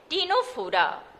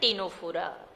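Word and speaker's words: Ctenophora: और तीसरा है टीनोफोरा। ये सी साइलेंट होता है इसको बोलते हैं ना टीनोफोरा। ये है सिलेंट्रेटा, लिखते हैं ऐसे ही कोइलेंट्रेटा, लेकिन ये है सिलेंट्रेटा।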